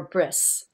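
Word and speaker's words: ברית: theme for this year, Brit Kedusha. Holy weavings. We touched on this earlier tonight. Let's bring into focus this term brit, or bris, as it's commonly pronounced in the Ashkenazi way.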